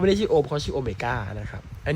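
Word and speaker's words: Ω: อะไร เนี่ย นะ ครับ อัน นี้ เป็น ตัว อักษร กรีก นะ ครับ อ่าน ว่า โอเมก้า นะ ครับ โอเมก้า มี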